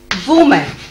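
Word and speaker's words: women: वुमन, plural बनाते समय विमेन, spelling लिखेंगे डब्ल्यू ओ एम ई एन, विमेन, विमेन।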